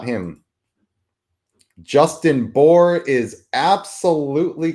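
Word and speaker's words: Bour: He spells his name B O R, but it's pronounced the same. It is Justin Boore.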